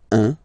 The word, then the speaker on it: un: Alright, so when you combine this U and N, you get the nasal sound un.